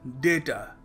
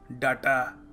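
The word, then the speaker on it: data: देखिए, अगला शब्द है डेटा। डेटा, हम क्या कहते हैं? हम कह देते हैं कभी कभी डाटा। डाटा, सो डाटा नहीं है, डेटा है, DAYTA।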